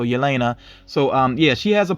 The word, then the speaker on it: Yelena: It seems like sometimes they pronounce the Y and sometimes they don't. You all let me know how you think you're supposed to say her name. For the most part, I think I have heard the Y pronounced though, Yelena.